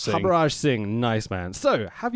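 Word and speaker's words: Harbhajan: It's ingoding cricket cricketing legend the Turminator Habra Singh. Is that how you pronounce it? Habarrage Singh. Habrage Singh.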